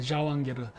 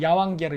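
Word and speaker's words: жауынгер: 전사 이런 무사를 갖다가 카자흐어로는 자완게르. 근데 그게 그 터키어는 제 발음이 안 되니까 그걸 이응으로 바꿉니다. 그래서 자완게르가 아니라 야완게르 이런 식으로 얘기하더라고.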